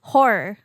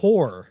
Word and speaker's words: horror: You have to add the extra syllable. Like I am though. If you listen really you're just carefully. Saying whore. I'm saying horror.